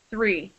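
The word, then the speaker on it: three: So look at my mouth. 3. See where my tongue goes? 3. It's going in between my teeth, right? 3. And with free, your lips are closing.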